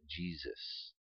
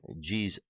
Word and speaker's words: Jesus: exists in English and second because the in English the S sound can shift to the Z sound which is what happened in the case of the pronunciation of Jesus ok so instead of s we have Z so jeez jeez ok the fourth sound